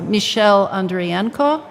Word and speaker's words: Michel Andrienko: We're a forthcoming exhibit on that we're expecting in mid-June or planning for in mid-June is on Michel Andrienko. That's the French legal pronunciation, spelling of his name.